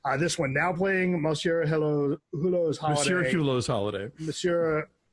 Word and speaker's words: Hulot: This one now playing Monsieur Hulot's Holiday. Monsieur Hulot's Holiday. Monsieur Hulot's Holiday. What? Anyway, coming soon when Father was away on business. It's French. The H is silent.